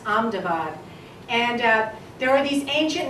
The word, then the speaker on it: Ahmedabad: to be called a medibot but now it's pronounced Ahmedabad and there are these ancient name for these